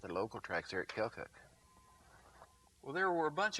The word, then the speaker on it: Keokuk: Now, you're from Iowa, and how do you pronounce the name of the town you're from? Keokuk. Keokuk, Iowa.